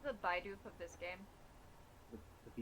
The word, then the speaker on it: Bidoof: It's a Bidoosh.